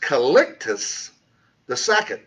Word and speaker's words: Calixtus II: by the popes, was called by, and that's pronounced Calixtus II, in AD 1123.